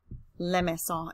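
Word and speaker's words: limaçon: Cydia oh and Limassol lemma song is the pronunciation of that one alright so here you're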